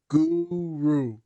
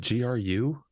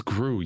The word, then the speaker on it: Gru: sounds like it looks Guru Guru isn't it Gru yeah it's Groo you